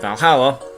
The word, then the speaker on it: VA-11 Hall-A: bit hard to pronounce good thing it's actually called Valhalla these the funny numbers